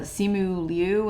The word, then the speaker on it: Simu Liu: new introductions like uh simu Liu I think is how you say his name he was really great